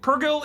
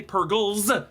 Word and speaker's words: Purrgil: That said, Purrgil is singular and plural. You don't say Purrgils.